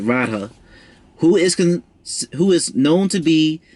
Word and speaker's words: Radha: Yeah, I said it right, Radha, who is known to be the consort of Krishna, of the Krishna avatar.